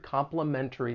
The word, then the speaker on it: complimentary: from the United States, sometimes people will drop that T because it follows the N sound, and it's going to sound like complimentary.